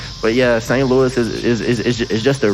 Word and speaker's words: St. Louis: see st louis oh saint louis no that's not what i said you heard me say it no bro you heard me pronounce the s but yeah saint louis is is is just